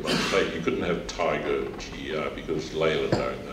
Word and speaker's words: Tiga: You couldn't have Tiger GR because Leyland owned that on the trucks. But there's jaguars and leopards and all that stuff. So anyway, we can pronounce it Tiger, animal, sort of, and T-I from Tim, G-A from Ganley.